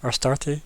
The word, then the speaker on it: Astarte: Astarte. Yeah. Thank you. I can never even read my own handwriting, let alone pronounce names properly. So think of it this way: ass tart.